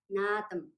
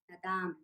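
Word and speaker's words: наадам: For example, nadam, nadam, not nadam.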